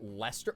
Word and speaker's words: Leicester: Leicester, which is pronounced Lester.